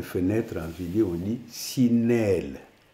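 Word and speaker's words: sineel: Les fenêtres en vidéo, on dit sinelle. Sinelle. S-I-N-E-E-L. Sinelle. La prononciation, c'est très important.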